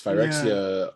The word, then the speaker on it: Phyrexia: Phyrexia? Is that how you pronounce it? Yes, Phyrexia.